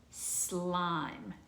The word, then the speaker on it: slime: some of this either slime sl have you played with some of that slime remember it has the silent e at the end so that says i you have to make your long sound so i put this